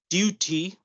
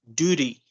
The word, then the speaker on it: duty: Then you have, instead of saying duty, we're going to say as duty, Okay. duty.